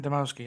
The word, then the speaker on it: Dymowski: Severin Dymowski. Oh, that's how you pronounce his surname, Dymowski.